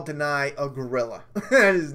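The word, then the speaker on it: Danai: Dana Guerrera. What? Dana Guerrera. It's not Dana. Dana Guerrera. Guerrera. Deny Guerrera. I think that's how she says.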